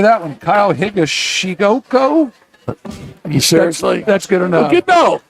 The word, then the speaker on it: Higashioka: Kyle Higashioka. You seriously? That's good enough. No. Kyle Higashioka.